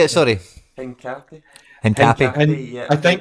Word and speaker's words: Hincapié: Hincapi. Hincapi. Hin- Yeah, I think- there's a I little think bit of a at the end. It's Hincapié.